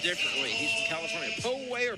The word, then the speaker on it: Poway: Poway or Poway? I've heard it pronounced both ways. He says Poway.